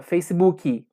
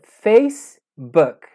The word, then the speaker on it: Facebook: erro comum que geralmente brasileiro gosta de colocar o hino final de tudo ter a mente brasileiro fala facebook nesse caso específico é facebook esse aqui é um